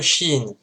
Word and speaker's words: شين: La lettre Shin, qui en phonétique s'écrit CH, et qui correspond au son CH, c'est exactement pareil que